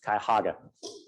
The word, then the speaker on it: Cuyahoga: development disabilities so they've I didn't know how to pronounce that County's name until I worked with them it's Cuyahoga do this through the